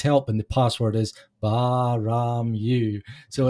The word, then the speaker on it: Baa-Ram-Ewe: that said it right it's baram you you're right most people say baram ooey yeah the references is